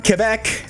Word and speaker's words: Quebec: so look to that down below moving on Quebec yes that's how it's pronounced folks let's be culturally sensitive Quebec is